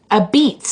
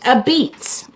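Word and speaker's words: apizza: uh pronounce this uh a pisa and uh pronounced a beets actually isn't that funny it was called a pisa a-p-i-z-z-a and pronounced a beets a-b-e-e-t-s that's very different like the original white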